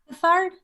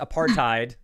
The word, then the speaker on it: apartheid: Maria? Apithard? Say that again? Apithard? I can't pronounce it. You are. I'm going to award the points. Apartheid. Apartheid is.